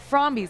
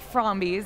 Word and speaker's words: Frombies: they create from bees i keep saying it wrong from these because it's friendly zombies so welcome andre adam